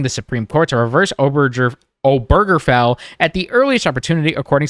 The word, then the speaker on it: Obergefell: How do you go about pronouncing this name? Obergefell. You do. Obergefell.